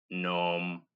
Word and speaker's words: gnome: But the G is always silent as in gnat, gnome, gnaw, gnash, and gnarly.